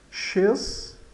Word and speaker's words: chez: Chez, o Z final, o Z no final ele é mudo, então ele fica che.